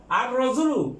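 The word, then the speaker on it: الرجل: আর রজুলু মানে লোক, আর রাজুলু এই এটা হরফে শামসিয়া, এর আগে আলিফ লাম উচ্চারিত হবে না।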